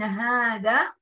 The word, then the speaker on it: هذا: طيب كلمة حذفت الألف من وسطها، أحسنتن، هذا، لكن، رائعات، هنا تنطق الألف ولكن دون أن تكتب.